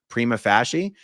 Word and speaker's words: prima facie: By the way, I did actually check the pronunciation of that word before I did this video, and it said prima facie, which means taking something